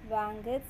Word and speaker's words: Wankhede: See, children, how to pronounce that? Wankhede Stadium.